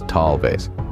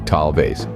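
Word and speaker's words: tal vez: let's move on to talves this one is pronounced as talves repeat after me talves excellent now it's not enough just to know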